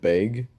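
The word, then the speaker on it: Bege: Yeah, I'll go by Beiji because how they pronounced it in the English dub, they said Beg, and I was like, it's like Beiji actually sounds a little bit better than that because the G's, you know.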